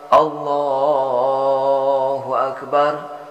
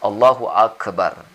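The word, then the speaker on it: الله أكبر: Oh baru call Hola jadi di sini kita cukup baca Allahu akbar jangan call allahuakbar jadi allahuakbar jangan Allohuakbar kelaziman kita membacanya allahuakbar kemudian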